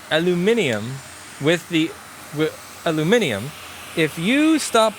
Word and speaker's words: aluminium: Aluminium, not aluminum. Okay, fine. How about this? I will pronounce aluminium with aluminium if you stop putting unnecessary vowels in words.